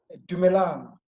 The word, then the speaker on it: dumelang: In my Tswana speaking, we say dumelang or greetings. Dumala? Yes. Dumalam. Dumelang, yes.